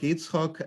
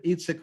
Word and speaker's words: Yitzhak: And in the modern period in Ashkenazic community, this was the most standard way of pronouncing it, this name in the synagogue, Yitzchok, and Yitzhak was the vernacular form.